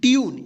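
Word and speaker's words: tune: देखिए क्या पढ़ेंगे इसको रूल, इसको रूले नहीं पढ़ेंगे, क्या पढ़ेंगे rule, T यू एन ई, ट्यून, इसको टूने नहीं पढ़ेंगे, क्या पढ़ेंगे ट्यून, टी यू बी ई, ट्यूब, एम यू टी ई, क्या पढ़ेंगे म्यूट, सी यू टी ई, क्यूट।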